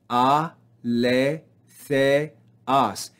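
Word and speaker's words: ἀληθείας: Notice here we have an acute accent, so it tells us to rise in pitch on this syllable.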